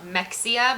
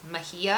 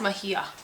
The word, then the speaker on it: Mexia: Some people pronounce it Mexia, but it's Mejia. It's Mejia.